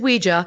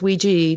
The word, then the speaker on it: Ouija: what it is so it's not we is we JA originally when it was patented it was to be pronounced as we JA although now everybody says we G that that's become okay to say we G